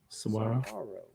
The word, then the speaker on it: saguaro: time every time dude when you see a g in the cell pronounce it with the w soiro Saguaro you know what [